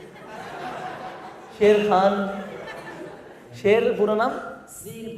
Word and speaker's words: शेर: श्री । My name is श्री । श्री ।